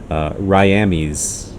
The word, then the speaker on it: Ryamis: to avoid spoilers, but Ryamis, which I think he said he pronounces his name technically as Ryami.